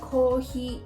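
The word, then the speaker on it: コーヒー: With the examples I just showed you, pasta is pretty straightforward, but with kohi, you have to elongate each syllable. although people would probably still understand you if you just say kohi.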